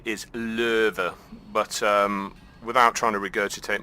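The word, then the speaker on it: Löwe: the low or as other people call it louver louver so yeah the correct way to say is louver but without trying to regurgitate my own tongue I'm gonna stick with low and so I'm sorry if that offends were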